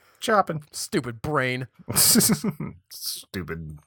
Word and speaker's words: Chopin: right i was like i'm pretty sure if Chopin is like say shopping just in case hahaha we know that these CH isn't sure we're not gonna say chopping play the I were pretty sure that's pronounced the right way Chopin stupid brain this isn't